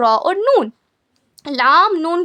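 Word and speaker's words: ن: Meme के बाद देखिए आता है नून।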